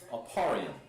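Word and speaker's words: אפרים: Aparium. That's how you pronounce it in Hebrew.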